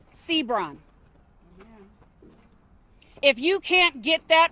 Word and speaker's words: Seabron: Yet seconds into that update, he doesn't even know how to pronounce Jaylen Sebrun. His name is Jaylen D'Angelo Sbron.